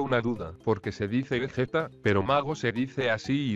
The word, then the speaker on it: Vegeta: Ahora, la palabra Vegeta se escribe con g, por lo que la pronunciación sería Vegeta.